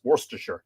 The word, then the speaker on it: Worcestershire: probably does that and that's not fair it's Worcestershire and everybody knows how to say it don't